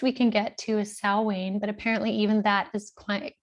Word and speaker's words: Samhain: people will call it samhain apparently that is the worst way you could say it the closest we can get to is salwaine but apparently even that